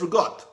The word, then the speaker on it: ricotta: It's not ricotta. It's rigot. R-U-got. Rigot. That's exactly how you say it.